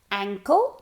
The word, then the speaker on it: ankle: Ankle, no, ankle es tobillo, cuidado.